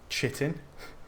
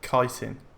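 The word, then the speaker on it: chitin: right yes so the mud crab I was pronouncing it mud crab chitting and apparently it's mud crab kiteen is that still right is that still wrong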